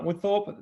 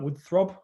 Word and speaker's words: Woodthorpe: my name is woodthorpe the worst i've had a pronunciation was wood throb one time which was i think